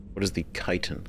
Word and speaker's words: chitin: What is the chitin? I know how to pronounce that now.